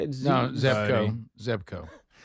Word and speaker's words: Zebco: And I found a I think it's Zeba is how you say it. Zeb Zeco. Zebco.